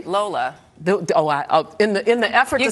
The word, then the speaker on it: Lola: It's called Arise Entertainment 360, and we are joined by Layla Ogunnaike. Did I say it correctly? Lola.